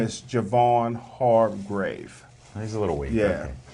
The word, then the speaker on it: Javon Hargrave: Can you his pronounce name it? is Javon Hargrave.